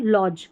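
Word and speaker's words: lodge: फिर यहां पर देखें ये है एल ओ लौ यहां पर ओ का उच्चारण अ करके हो रहा है लॉज लॉज अ लॉज डी जी ई को ज लॉज फिर अगला सराय या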